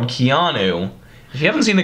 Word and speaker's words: Keanu: is a movie called Keanu. If you haven't seen the commercial, go over and check it out. It's pretty funny. It's like Keanu Reeves.